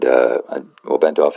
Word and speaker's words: Bentov: That's Itzhak, Itzhak Bentov, and Bentov is spelled the way you would think it would be, in like the Russian sort of Russian Slavic sense with the OV at the end, Bentov.